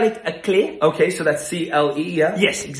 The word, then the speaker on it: clef: It's either with an F or no F, and there's no F because it's not clef, it's clé.